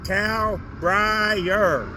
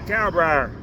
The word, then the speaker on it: Kalbrier: K-A-L, B as in boy, R-I-E-R, Kalbrier. That's how you pronounce it, Kalbrier.